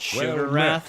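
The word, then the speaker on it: Sheogorath: We finished Sha Gorath's quest, which for some reason they they pronounced it sugar wrath in this game.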